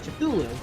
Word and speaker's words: Cthulhu: maxwell video when um when i pronounced it as cthulhu people were like they're saying they're wrong and then they give their own way to say it so so many people